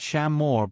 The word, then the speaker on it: Shaymore: That was the direction that funny fogbank had come from, and it was the direction Shaymore, pronounced Shammore by the locals, lay in.